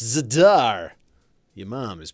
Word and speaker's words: Zadar: It's pronounced Zadar!